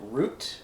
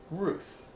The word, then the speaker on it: Ruth: When we spell it out in Hebrew, a lot of times we might pronounce it root, like just for the sake of going through the exercises and knowing the sounds of Hebrew. When we see it, we might say root, but it's actually pronounced Ruth because of how the word is constructed.